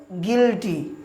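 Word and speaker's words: guilty: গিল্টি। এই উচ্চারণটা দেখুন ভিউয়ারস।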